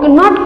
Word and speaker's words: know: Here K is silent. Here students K is silent. So we will read here no, not kno.